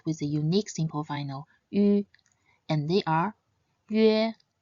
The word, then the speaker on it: üan: And the last compound final is yuan. Previously, we learned that the nasal final an can be pronounced as an or n, just like the n sound in the Japanese currency yen.